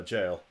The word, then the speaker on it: gaol: the village get our jail I keep forgetting that gaol is pronounced jail see uh burg I